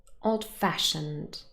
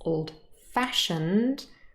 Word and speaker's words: old-fashioned: The next two adjectives, old-fashioned, hard-working, they consist of three syllables, but the stress is again on the second syllable.